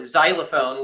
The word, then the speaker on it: xylophone: X-ray or you know xylophone which is pronounced with a Z but spelled with an X like an X.